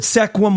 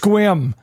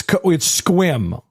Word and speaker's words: Sequim: No, because I called it Sequim, Washington to somebody, and they're like, it's pronounced Squim. And I was like, it's written Sequim. Like, I know what I'm reading. And they're like, it's Squim.